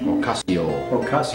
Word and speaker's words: Ocasio: i say it right ocasio ocasio just like an irishman yeah just like an